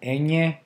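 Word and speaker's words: eñe: It's called enye, and it's pronounced e, nye, as in canyon. Or onion, nya, nya.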